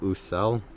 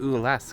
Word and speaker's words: Ousel: hey everyone we're at usell they say that right yeah you said it right I've been saying it ooh less because I have dyslexia and it really warped my brain and how I thought this place was pronounced and spelled yeah and she's misinformed